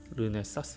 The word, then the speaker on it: 르네사스: 룸에 사스 란 회사인데요 발음이 좀 힘들어요 그런데 쌍 쓰 가 아니라 르네 사스 입니다 이루는 사스 는 촬영용